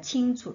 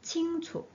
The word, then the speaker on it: 清楚: 여기에서는 그냥 성조 없는 걸로 약한으로 발음합니다. 칭초 이렇게 발음하면 됩니다. 성조 달린 건 정관 정리해서 빼드리겠습니다. 위치 被人误会, 不如解释 칭초.